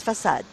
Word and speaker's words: facade: No, it's in English. It's facade. Yeah, but in Polish, I think the word facade, facade in Polish is facada.